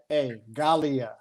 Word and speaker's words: Galia: G. G is in Jeffrey. No, G is in gold. A-L-I-A. Galia.